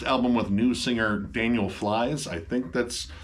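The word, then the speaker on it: Flys: with new singer Daniel flies I think that's how you pronounce that I don't think it's fiss it could be fiss but it's spelled f lyss flies well yeah I was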